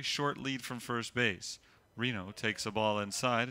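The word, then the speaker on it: Rieno: sand of all Reno pronounced like the city it isn't spelled that way RI e n o W now you spell RW Reno junior outfielder from Wheaton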